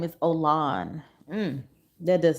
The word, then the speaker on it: Olan: by the way o ol oh I been mispronouncing his name his name is Olan so I don't know that's definitely not um